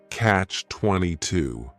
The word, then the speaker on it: catch-22: The word catch is just one syllable, and then 22 is 3 syllables, and the stress is on that final syllable, catch 22.